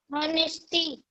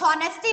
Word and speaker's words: honesty: ऑनेस्टी. ऑनेस्टी. अब बेटा आप हॉनेस्टी बोल रहे हैं. It's means wrong. आप प्रोनाउंसिएशन रॉन्ग कर रही हैं. बिकॉज ऑनेस्टी में एच साइलेंट होता है. हम ऑनेस्टी बोलेंगे, हॉनेस्टी नहीं.